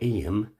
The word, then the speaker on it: Eyam: second map shows where em pronounced aim sits in relation to